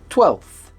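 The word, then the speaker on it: twelfth: You don't have to pronounce the F in the middle, so that it sounds like 12th.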